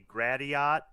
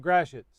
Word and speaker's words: Gratiot: it it would be gratiot but it's a lot of stuff here is french from from foreign influence from you know before